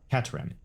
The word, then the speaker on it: Katran: I think they called her Katiana, because that was what that Katran. Okay. I noticed that the lady was saying Katran, and so that's the native pronunciation of her name.